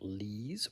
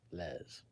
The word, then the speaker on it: Lees: Is it pronounced Lees or is it pronounced Les? First one, second one, or maybe there's a third one. Lees, not Les. Okay. And not less, because it's not Less.